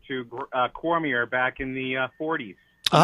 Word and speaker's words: Cormier: That's kind of right, but my ancestors are Cormy, Cormey. Cormy? My says who? My paternal grandmother changed our name to Cormier back in the 40s.